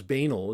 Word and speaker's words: banal: is so banal, or as banal as I like to say, is because it rhymes with anal.